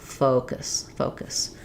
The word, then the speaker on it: focus: I hear is that people will make these two vowels too similar. If we have an vowel in this first syllable, it creates a problem. It sounds too close to a bad phrase. So you really want to focus on nice, good rounding on your faux, and then very short, almost no vowel at all in that last syllable.